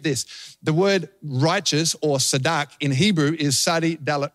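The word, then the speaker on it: צדק: So in Hebrew, the word righteousness is tzedakah, tzedak, T-Z-I-D-A-Q, tzedak. That's how you pronounce it, tzedak.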